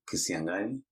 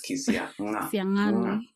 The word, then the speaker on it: Kisiang'ani: My name is Kisiang'ani. The G has an apostrophe. Yeah, so it's Kisiangani. But I just prefer just telling guys Kisiangani because the pronunciation tutorial is normally hard work.